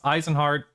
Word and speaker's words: Izenhart: Yeah, it's Eisenhard. Shelativan. How do you pronounce the full name?